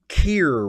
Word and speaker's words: Kier: And this one comes from Kier, rhymes with beer.